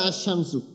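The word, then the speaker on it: الشمس: হলো কফ তো এই যে আল কমারু আর আশ শামসু তো এই যে তাহলে এখানে আমরা একটা জিনিস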